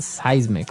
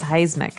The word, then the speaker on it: seismic: affect us okay so that's seismic activity it's pronounced seismic right seismic seismic okay and uh because of all this activity